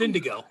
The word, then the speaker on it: Indago: those listening, I know Dan called it indigo, but it's spelled Indago, like Snoop Dogg. Indago. Yeah. Because he's like Okay. the Snoop Dogg. Yeah, but it's pronounced indigo for sure.